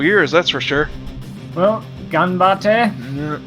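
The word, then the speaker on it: 頑張って: Well, Ganbate? Yeah. Is that how you pronounce it? Yeah, it's Ganbate. Yeah.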